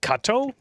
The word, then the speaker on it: Cato: you pronounce it it's benedict tiberius kato kato benedict tiberius cato cato okay so kato like kung fu kado they're all heroes from